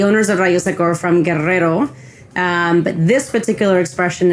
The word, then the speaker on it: Guerrero: like to pronounce Guerero well you know it's the dou r i can't be uh I can't be in the mcal word and say Guerrero guer that would just be embarrassing so uh but this is